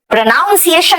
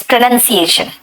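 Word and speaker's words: pronunciation: प्रोनाउंसिएशन नहीं बोलना इट्स प्रोनंसिएशन।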